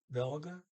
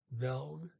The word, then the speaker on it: velg: I made a mistake. It's not velg. It's just vel. They don't pronounce the G and VELG.